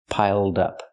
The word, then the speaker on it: piled up: Link the sounds, piled up. Pronounce it like one word, not piled up, but piled up. Connect the D with the next word, dup dup.